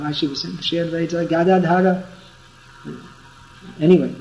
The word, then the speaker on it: Gadadhar: The member of the Panchatattva, whose name begins with G, his name is pronounced Gadadhar.